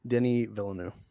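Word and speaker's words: Denis Villeneuve: I feel like how how do you say his name Dennis villanu Denny villanu oh Denny sorry French of course Denny villanu I'm not I'm not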